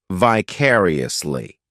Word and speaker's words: vicariously: adverb which is vicariously this adverb has five syllables and the stress is on that second syllable vicariously the third syllable it's like that letter I just has that e sound and the fourth syllable has the schah sound vicariously what this adverb means